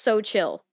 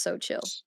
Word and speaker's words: Xochitl: pronounced so chill. It's Yeah. literally pronounced so chill.